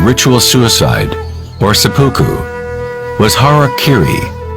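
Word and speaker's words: hara-kiri: suicide or supoku was hara kiri was often mispronounced as harry kerry it means to impale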